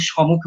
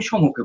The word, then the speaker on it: সম্মুখে: আমি বারবার শুনে শুনে দেখলাম অনেকে এক রকমের উচ্চারণ করে, অনেকে এক রকমের উচ্চারণ করে, কেউ সমুখে উচ্চারণ করে, কেউ সম্মুখে উচ্চারণ করে। আমি সম্মুখে বলবো।